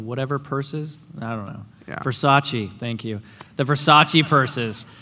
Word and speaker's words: Versace: Versace.